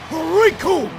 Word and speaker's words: Riku: to this man, because the name's Riku, and it rhymes with doom, and you're gonna be hurting all too soon!